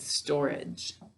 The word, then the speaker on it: storage: our word class good so we say store age to spell it what do we say when we're talking good storage all right so stower